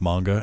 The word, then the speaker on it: manga: I think it took me years of knowing that it's pronounced manga and then saying manga anyway.